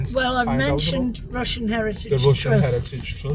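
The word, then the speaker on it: Rushen: Russian is spelled R U S H E N.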